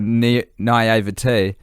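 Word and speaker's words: naïveté: I don't want to burst your bubble over there or, ruin your naivete.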